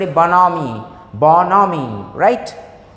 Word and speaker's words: bonhomie: लिखा क्या गया, BONHOMIE, बोनहोमी, बट the correct pronunciation of this word is बोनोमी, बोनोमी, right.